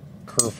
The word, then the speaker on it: kerf: all symmetrical and junk where do you see curve allowance on here the kerf (I've been saying it wrong) allowance is just